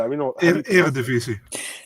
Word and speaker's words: Eredivisie: How do you pronounce that? Eredivisie.